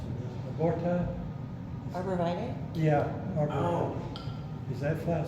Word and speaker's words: arborvitae: Is it aborti? I never can pronounce it. Aborti? Arborvitae?